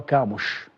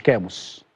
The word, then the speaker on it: كاموش: طيب النطق الصحيح لمهاجم الاهلي المنتظر هو كاموش، مش كاموس ومش كاموس، هو كاموش.